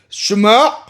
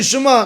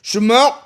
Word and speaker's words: Shema: Shema, like that, you have to be able to make the ayin sound. Ashkenazim say Shema, that's it, finished. There's no ayin, there's nothing, right? But by Sephardim, Shema, you want to be able to, like you're throwing up, right? That's how it's supposed to be sound.